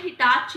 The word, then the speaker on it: Hitachi: HITACHI क्या बन गया, हिटैची। हिटैची, हम लोग कई लोग हिटैची बोलते हैं, कोई हिटैची बोलते हैं, टैची नहीं होता ये, कोई टैची नहीं है उठा के जाने वाला, इसको बोलते हैं हिटाची।